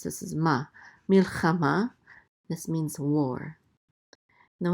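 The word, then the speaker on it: מלחמה: This is mil, and then the chet with a kamat says cha, mil cha, and then a mem with a kamatz, and the hey is silent. This is ma, milchama.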